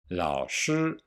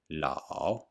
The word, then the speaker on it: lǎo: is very short and some people only hear the ah la but there is a difference between la and la not that the a is the long or strong vowel and the tone mark is always on the strong vowel alone la means to